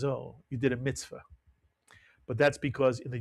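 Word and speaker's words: מִצְוָה: And another word like it, mitzvah. You'll hear people say mitzvah, but the actual pronunciation in Sephardic Hebrew is mitzvah, and it means commandment.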